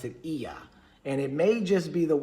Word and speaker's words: Ea: But they pronounce it Ea.